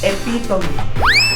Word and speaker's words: epitome: Okay epit ep ep pero ang tamang pronunciation ay epong epitome galaw-galaw mga zero galaw-galaw yong Yong So